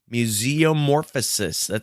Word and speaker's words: Museumorphosis: Museumorphosis. I'm going to spell that. It's Museum Orphosis. So it's like museum and then ORPHOSIS.